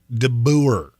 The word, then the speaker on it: DeBoer: DeBoer, as it is spelled.